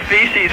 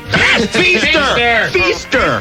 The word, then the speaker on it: Feaster: you get a name like Feces from? Feaster. It rhymes with Easter. Easter and Feaster.